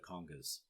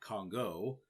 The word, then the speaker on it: conga: Now, a conga is pronounced conga, by the way, not Congo. Congo is one of two countries in Africa. Conga is an instrument. So don't get those confused. Congo, countries. Conga, instrument. Okay, bongos, little drums.